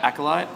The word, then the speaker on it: Acolyte: thanks Stefan that's how you say it right acolyte that's exactly how you say it nailed it